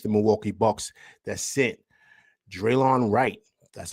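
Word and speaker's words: Delon Wright: a deal with the Milwaukee Bucks that sent Draylon Wright, that's how you pronounce his name, I apologize, to the Knicks for Jericho Sims, and the Knicks get Draylon Wright and some cash.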